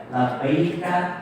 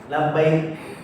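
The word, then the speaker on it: لبيك: Labbaika Allahumma labbaik. Labbaika la syarika laka. Labbaik. Ada ka-nya. Ka itu apa kalau dalam Islam itu? Ka itu ada sedikit apa hamzahnya. Labbaik. Ya. Labbaik, bukan labbaik. Labbaik.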